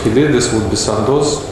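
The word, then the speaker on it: Sandoz: did this would be santos i hope we're pronouncing that right that's the way this is absolutely correct yeah in russia and then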